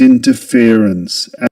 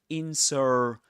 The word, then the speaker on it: interference: So the main stress goes on fear. The syllable fear. And the secondary stress goes on the syllable in.